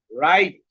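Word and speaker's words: wrong: Double you এর পরে যদি আর থাকে, এটা তো ডাবল ইউ এর পরে যদি আর থাকে তাহলে ডাবল ইউ এর সাউন্ডটা হয় না। যেমন রাইট, রং।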